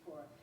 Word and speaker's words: Corps: a bookmark from peace cor and tell you how important it is and sister who said that's peace C has a silent S I just learned that